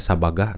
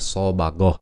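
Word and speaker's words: صبغ: Sibgoh Allah ini menurut pendapat beberapa ulama berasal dari kata sobagoh ya, sobagoh atau sabagah ya, tulisannya sabagah atau dibacanya sobagoh, yang artinya mewarnai, mencelupkan dan mengecat.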